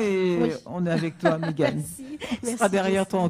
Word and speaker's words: Méghane: Alors, Mégane, Meghane. Et puis, voilà, comme ça se prononce en fait.